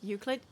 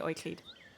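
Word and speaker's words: Euklid: and established the Primacy pretty sure that one's pronounced Euclid yes in English it is but in German we say oiklid foreign because we um like we we have a lot of diphthongs uh and like uh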